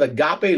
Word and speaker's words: agape: it is actually the lexical transliteration that that pronounced as agape and it is it is a type of